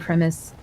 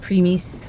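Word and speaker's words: Primis: shows a very close connection between King Albrecht and Richtofen and Primus. It's actually called Premis, but I will never say it like that.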